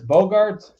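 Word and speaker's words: Bogaerts: say his last name is it Bogart it's Bogarts Bogarts he used to be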